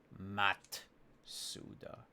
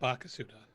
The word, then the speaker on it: Matsuda: Is that how you pronounce it? Matsuda. Not Bakasuda.